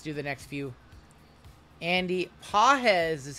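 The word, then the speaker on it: Pagés: all right let's do the next few Andy pz is how you say that name I just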